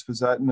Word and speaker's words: fisetin: So, how does he pronounce fisotin? The other agent that we're looking at in early trials is fisettin.